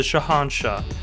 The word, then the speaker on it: Shahanshah: No, you're adding in extra letters that don't even exist. It's just Shahanshah.